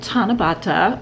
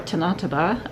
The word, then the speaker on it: Tanabata: And Tanabata, or Tanataba, I've heard it pronounced both ways, I had not heard about.